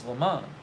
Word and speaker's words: LeMond: injured Rick hoppy says LeMond is French the French pronunciation is LeMond the anglicized version in the anglicized version the S is pronounced thank you steveandgeorge I